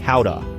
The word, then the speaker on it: Gouda: It's not Gouda, folks. It's more like howa.